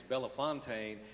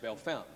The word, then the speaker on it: Bellefontaine: town in Ohio that looks like it is Bella Fontaine is pronounced Bellefontaine I was born there Mary retained hospital let